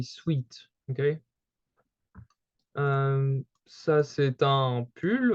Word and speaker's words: sweat: In French, it's very common to call them like this, but we wouldn't pronounce it the English way with sweat. We would say sweet, okay?